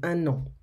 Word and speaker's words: un an: Quand on dit un an, il faut prononcer le N, un an.